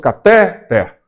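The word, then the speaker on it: cateter: Porque se a pronúncia fosse catéter, ela também seria uma paroxítona. E logo estaria acentuada, né? Porque nós acentuamos paroxítonas terminadas em R. Então chegamos à conclusão que a pronúncia é catéter.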